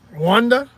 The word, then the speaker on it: Rwanda: always say Tanzania Tanzania Rwanda see I almost said it like Rhonda that's how they say it I've been looking at